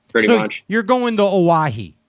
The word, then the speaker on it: Oahu: i'm looking for pretty much you're going to owahi right am i saying it right oahu yeah are you did you google that i